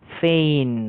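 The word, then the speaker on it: feign: এবং এফইআইজিএন উচ্চারণটা ফেইন।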